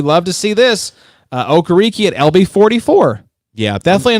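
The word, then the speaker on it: Okereke: of the way bobby okariki all right media folks it's bobby okariki it's not that hard but i hear that name butchered time and time i think booger mcfarlane called him bobby ricky i was like booger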